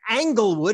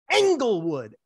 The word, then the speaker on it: Englewood: starts with an angle it's not angle wood it's englewood angle wood angle wood engelwood yes that's the first time you've said it right what is it i